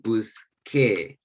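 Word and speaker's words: busqué: But if you pronounce this buscar and this busser, this soft C sound. We want the hard C sound. So instead of this, we have busque. And this still has the hard K sound.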